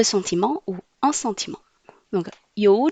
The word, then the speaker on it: 有: Tout d'abord, 有. Y prononce I. OU prononce O. Avec le troisième ton, ça fait O.